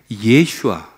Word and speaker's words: 예슈아: 예수라는 이름은요, 원래 히브리식 발음으로 하면 어디서 왔냐면은 예슈아, 여호수아에서 왔습니다.